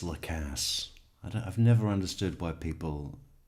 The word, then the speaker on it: Lacasse: It's not Lacasse or Lacoste. It's Lacasse. I mean, he says it. He's testified 4 times saying his name each and every time. And the interviews. I think the best resource for how to pronounce his name would be him.